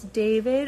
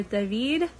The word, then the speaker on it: David: getting tired guys so my son's name is david or david it's spelled like it sounds like d-a-h-v-e-e-d in russian david it's a more popular